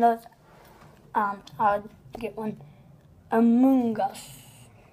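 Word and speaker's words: Amoonguss: Amoongus. Like fungus.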